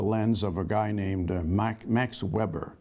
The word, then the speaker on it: Weber: of a guy named Max Weber. Max Weber actually pronounced his name Max Weber because he was German.